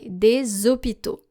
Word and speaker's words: des hôpitaux: If the article is des, for example, we have to pronounce it this way, des hôpitaux.